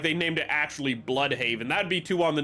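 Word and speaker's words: Blüdhaven: Yeah, it's not Blood Haven. It's blood haven, but it's spelled B L U with like the two dots over the U D and then Haven.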